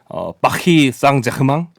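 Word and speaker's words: Paris Saint-Germain: 20년 전 기억을 더듬어서 최대한 비슷하게 발음을 해보면 빡이 쌍자금왕 이렇게 하는 있기 때문에 근데 이제 듣기에는 쌍제르망에 가깝게 들리는데 하지만 이제 우리는 외래어 표기법을 준수해야 되잖아요 그래서 생제르맹으로 쓰는게 이제 불법상 맞습니다 사실상 이게 또 축구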